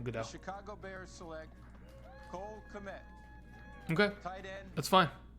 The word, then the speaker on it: Kmet: Let's go ahead and let's get Cole Kmet. I think it's Cole Met. I don't know why you would pronounce the K, but you know what?